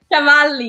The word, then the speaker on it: Cavalli: I want y'all to say hi to Cavalli. Did I say that right? Cavalli, yeah.